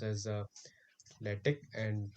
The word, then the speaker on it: LaTeX: actually pronounced as a lattice and tech maker because in in latex this is not x this is a greek letter chi we pronounce it k so this is not